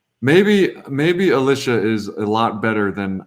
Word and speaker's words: Alisha: And her name is pronounced Alisha, by the way, if you're new here.